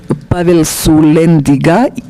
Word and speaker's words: Sulyandziga: Mi apellido se pronuncia correctamente en mi idioma natal, se pronuncia Pavel Sulianziga, persona que no le gustan los astutos.